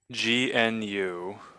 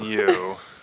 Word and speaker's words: GNU: pronounced as one syllable with a hard G.